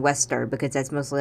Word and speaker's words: Westar: Also, for pronunciation, I call him Westar, because to me when he says Uesta, in Japanese, it sounds like saying waster with an A in the middle of we before the stir.